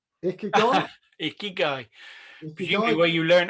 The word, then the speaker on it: ikigai: write it in the japanese mnemonics but it's i k i g a i ikigai it's subtitled the japanese secret to a